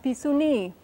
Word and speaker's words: pisuni: It's pronounced Pisuni. Pisu, accent on this last syllable, ni, and a pretty long I there.